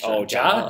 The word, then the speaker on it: ja: Apparently, ja is ja is pronounced that way, and then da is Russian.